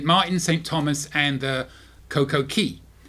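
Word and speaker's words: Coco Cay: Thomas, and the Coco Key. Why they call it Key when it's spelled C-A-Y is beyond me, but they call it Coco Key.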